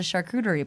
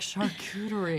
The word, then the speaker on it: charcuterie: I think the French pronunciation I'm gonna butcher as charcuterie, but Charcuterie. but I call it charcuterie because I'm an American.